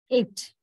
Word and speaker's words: ate: We have to say it with a touch of diphthong, 8 or lay. That is how, not short A sound.